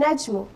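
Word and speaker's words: النجم: say an o and najmu the noon here carries a tash needs sign and of course it comes after lam so we said that slam here will remain silent so i will not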